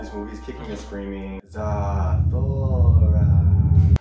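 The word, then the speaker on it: Zathura: Zathora. That's how they say it in the movie.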